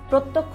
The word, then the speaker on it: প্রত্যক্ষ: রয়ে গিয়েছে যেমন প্রত্যক্ষ প্রত্যক্ষ বানানে কিন্তু তুমি যখন শেষে ক্ষীয় ধ্বনিটা ব্যবহার করছো তখন কিন্তু তুমি খেয়াল করবে যে প্রত্যক্ষ খিয় ধ্বনিটার উচ্চারণ কিন্তু ক এবং প্লাস খ এর মতো আসছে তার মানে দুইটা নিয়ম